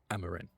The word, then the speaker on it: Amaran: Amaran? How do you say it? Amaran. Amaran. Yeah.